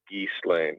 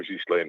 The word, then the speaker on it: Ghislaine: It's not Ghislaine, it's Ghislaine. GH in French, and I speak French, is in English, you would spell it almost as a ZHE or a JHE. Okay. Ghislaine.